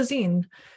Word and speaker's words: zine: But just for your information, it's called a zine, short for fanzine, similar to the word magazine.